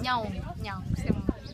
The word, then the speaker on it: Nyaung: Bagan está dividido en tres partes, Old Bagan, New Bagan y Nyuan, siempre me cuesta pronunciarlo, Nyaung, se dice.